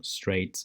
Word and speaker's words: straight: También adjetivos como straight, straighter, que si te fijas es una palabra como larga. A lo mejor uno no pensaría que es una sílaba, pero en inglés sí es una sílaba.